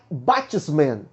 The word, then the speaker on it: batsman: Creio que a pronúncia seja essa. Professores de inglês, por favor, se eu estiver falando errado, me corrija e ensine para os nossos alunos, tá bom? Por favor, vamos lá. Mas na pronúncia do professor Leandro é batsman, o nome da pronúncia.